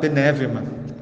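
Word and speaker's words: πνεῦμα: Ao escreverem a respeito do espírito, os escritores bíblicos usaram a palavra hebraica ruá ou a palavra grega pneuma, pronunciada penevema.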